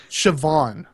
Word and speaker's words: Siobhan: there you go it's s-i-o-b-h-a-n Siobhan with a v I I had known